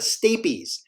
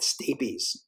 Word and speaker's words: stapes: is that that that stapes um it kind of reminds me of a staple and stapes is a little bit like spelled like staple if that maybe helps but